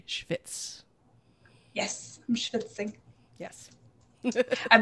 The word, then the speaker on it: schvitz: For those who have never heard that word, it is Yiddish for sweat. It is spelled SCHVITZ. Schwitz.